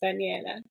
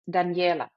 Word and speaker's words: Danijela: pronounce your name because I'm going to pronounce it in Spanish which is Daniela but you you you will pronounce it differently right of course uh although I love the Spanish pronunciation it's Daniela so it's in German it's danela in Serbian it's danela so however you choose